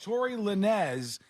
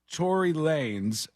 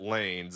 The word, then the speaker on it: Lanez: French influence in Canada there's no way you pronounce it Lanes it's at best lines probably how are you getting no it's oh no this yeah this is the phonetics thing it's l a n Easy you're right yeah but it's pronounced like this Tory Lanez I'm from the streets I know this kind of stuff in the